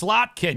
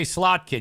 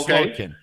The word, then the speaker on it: Slotkin: to say it right it's it's slotkin you gotta say slotkin you can't say slin at Leisa slot at